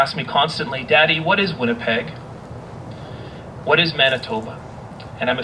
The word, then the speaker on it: Winnipeg: Winnipeg is a creishnab word derived from wet which means uh dirty or muddy and nibek which means waters plural waters. The original pronunciation is likely Winnipeck.